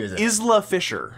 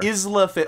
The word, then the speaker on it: Isla Fisher: Isla Fisher, I believe her name is pronounced. Isle of Fisher. Isla Fisher.